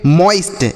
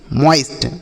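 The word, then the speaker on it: moist: ओ के साथ आई रहेगा तो ओ का उच्चारण बॉईल उसी तरीके से इसे हम पढ़ेंगे मोइस्ट एम ओ आई एस टी इसे पढ़ा जाएगा मोइस्ट मॉइस्ट ना तो मोइस्ट नहीं पढ़ना है आपको मो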